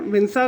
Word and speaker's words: Vinca: और दोस्तों कई लोग जो है विंसा को विंका भी प्रोनाउंस करते हैं। आप विंसा रोजिया बोल लें या विंका रोजिया बोल लें दोनों ठीक है।